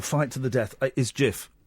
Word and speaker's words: GIF: turn that into a GIF. That's your career over. Literally minutes after it started. I'll be honest. I thought it was GIF, not GIF. Well, this is we like to educate. It's GIF.